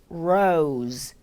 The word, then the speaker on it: rose: 장미, rose, rose, 로즈가 아닌 rose, rose. 충분히 여유 있게 길게 느려서 발음해 주세요.